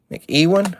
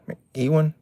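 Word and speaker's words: McEwan: On that one, we got Tom Mcwan, I think is how you say that. I win. Mc Ewan. I always have a hard time with that one every time. Mc Ewan. Yeah, there you go.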